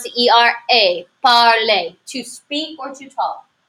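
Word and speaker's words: parler: I want you to take into account the pronunciation of this er indeed this is not parlor which is what I might want to say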